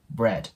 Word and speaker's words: bread: んでですけどまた R の音ですねこれも先ほど出てきたのを意識してもらって R R Bad とね発音してもらえたらと思いますもう 1度発音する